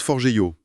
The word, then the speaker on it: Forgejo: Ça se prononce forgeo et ça vient directement de l'Espéranto.